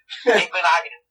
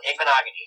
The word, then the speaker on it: Igbinoghene: Ryan, before I start talking about him, I'd like to hear you pronounce his last name for me. Oh, gosh. I don't know. Igbinoghene. He literally just said it. It's not that hard. Igbinoghene, right?